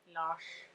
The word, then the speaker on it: Lars: people my name was lars lush as it's pronounced in norway which is the boy's